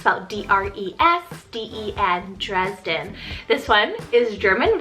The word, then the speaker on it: Dresden: another german option here we have the name dresden it's about d-r-e-s d-e-n dresden this one is german rooted meaning people